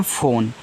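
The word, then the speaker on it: phone: देखो इसको पढ़ते हैं फोन तो पी एच से आपका फ हो गया ओ से ओ की मात्रा फो एन से आपका ना फोन इस लास्ट वाले इ का उच्चारण नहीं करेंगे क्योंकि आपका यहां पे इ है।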